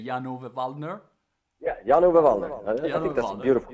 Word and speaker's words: Jan-Ove Waldner: Yeah, Jan-Ove Wallner. I think that's a beautiful pronunciation.